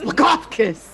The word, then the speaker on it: Blagothkus: It's Blagothkus. You have to really put your chest into it.